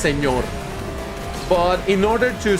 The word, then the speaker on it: señor: I mean, I suppose the idea is to pronounce it señor. But you know, that's a letter in the Spanish alphabet. As we call it, ñ, which is like N with a little thing on top.